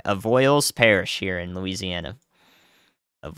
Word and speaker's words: Avoyelles: surprise there and uh somebody put the pronunciation for that in chat I have a yell of avoyelles goodness gracious of all evils evil yells everyone yells of oils of oils there we go all right avoyles Parish